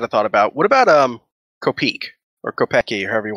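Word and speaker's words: Kopeke: I've always gone with Kopeki. Kopeki, yeah. Well, that's what I say in my mind, but I mean, it's like how you say Wednesday. It's Yeah, it's true. The official pronunciation is Kopik.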